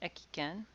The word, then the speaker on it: Ekken: Kaibara Ekken. Sometimes his name is pronounced Ekiken. Yamaga Soko, Ito Jinsai, and Ogyu Sorai.